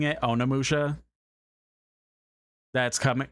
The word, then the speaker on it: Onimusha: It's Onimusha. O N I and then M U S H A. I I think it's just the way I'm pronouncing it, Onimusha.